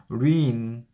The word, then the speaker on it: reign: region 이거는요 reign 아니면 reign이라고 발음을 하는데 이거는 왕의 통치 기간을 얘기를 하는 거예요.